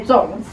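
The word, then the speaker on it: 粽子: me how to make zongzhi. I don't know if I'm saying it correctly, but anyway. Baza. As long as you can Baza. Understand. Baza. Actually in Taiwan we say zongzhi, but sometimes we still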